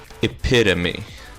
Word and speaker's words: epitome: Epitome. Oh. Epitome. Okay, these are not difficult. Drought. Oh. Drought. Most counterintuitive word to pronounce.